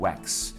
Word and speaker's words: wax: เงา เนี่ย นะ ครับ ไป ออก เสียง แวก แวก ก็ จะ แปล ว่า ตี อีก แล้ว เนี่ย นะ ครับ w A k เป็น slang ที่ แปล ว่า การ ตี แรง ต้อง ออก เสียง ให้ เกียรติ ตัว X นะ ครับ ก็ คือ wax รวม ถึง คำ ว่า